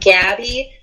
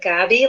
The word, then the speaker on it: Gabi: Gabi, which is not Gabby and not Gabi, but Gabi. Like, right. I like to say, if you say it with a smile, if you turn up the corners of your mouth, then you're saying it right.